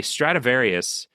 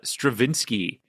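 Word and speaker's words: Stradivarius: was and um I I was talking about a uh a Stratavarius uh violin but I I kept saying uh Stravinsky or Stratavinsky I think or something like that.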